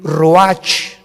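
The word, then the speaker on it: רוח: capítulo y exhaló Isaac el Roach así como suena se pronuncia la c en hebreo como r se le salló y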